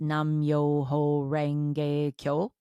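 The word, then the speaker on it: Nam Myoho Renge Kyo: It's pronounced Nam Myo Ho Renge Kyo.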